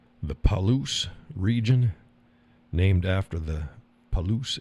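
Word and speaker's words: Palouse: I don't want to start the string of me pronouncing stuff correctly anymore. I butcher everything. But I said it right. Okay. Paloo.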